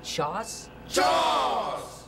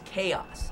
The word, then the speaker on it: chaos: into chores I'm sorry did you say Joss how do you spell that Jaws c h uh AOS Jaws laughs how dare you make light of the opossum hey that's a good pun it's it's just that the word is chaos it's c-h-a-o-s spells chaos